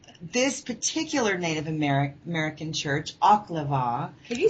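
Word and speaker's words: Oklevueha: This particular Native American church, Oklava. Can you spell that for our listeners?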